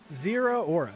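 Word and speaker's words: Zeraora: Zero Aura.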